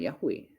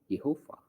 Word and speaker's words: Yehova: Jadi bacanya bukan Yahwe, tapi yang benar adalah Yehova.